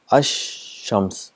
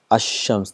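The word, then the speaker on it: الشمس: It becomes ash-shams. So what happens is, the al is written, it becomes silent, and the sound of sheen is doubled. This is ash-shams, so 2 times.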